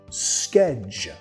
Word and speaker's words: schedule: Schedule. Y la última parte, schedule. Schedule. Schedule. Y si notas, vamos a pronunciar la primera parte de la palabra un poco más fuerte.